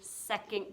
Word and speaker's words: second: And that kind of is spelled like it sounds sec. The O is copycatting the U sound, huh? It's a schwa.